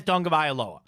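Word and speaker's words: Tagovailoa: to say his last name and he says dong of aloa so I'm going to go of that he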